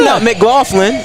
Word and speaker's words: McLaughlin: I said hey that's that's how it's pronounced that is how it's mck golin so I was like